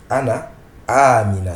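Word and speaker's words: أنا: avez peut-être remarqué que je prononce Anna et non Anana avec le Mad avec l'allongement mais sachez que Anna le pronom personnel Anna on ne prononce pas l'allongement même s'il est écrit on ne prononce pas l'allongement on écrit Anana mais on lit Ana c'est ce qui est écrit ici Ana se prononce sans allongement Ana et non Ana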